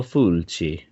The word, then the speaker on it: Fulci: Z- Lucio Fulci. Yep. Gotta say it like that so the Italians appreciate it. That's how you say it.